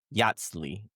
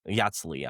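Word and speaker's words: Yatzli: You had Kai, Maris, Ga, and Yatsi. Yatsi, I believe is how how she pronounced their name.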